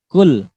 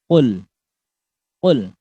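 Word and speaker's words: قل: Kul huwallahu ahad. Banyak pakai yang huruf kaf. Kul. Padahal huruf qaf ini lebih dalam ya pengucapannya. Qaf. Qul. Qala. Qala yaqulu ya. Bukan ka, bukan kul.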